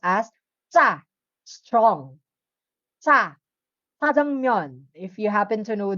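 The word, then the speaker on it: 짜장면: But the sound it produced, it's TS. Jajangmyeon. Okay? Hindi mo naman mapropronounce ang double J, like jajangmyeon. Hindi naman ganun, right? So, it's jajangmyeon. TS.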